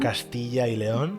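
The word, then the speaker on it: Castilla y León: we went to bilbow am I am I pronouncing that correct yeah bilau yeah um C Leon am I pronoun castill Leon thank you yeah um where we were where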